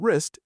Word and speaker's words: wrist: For example, the W in wrist is a silent letter.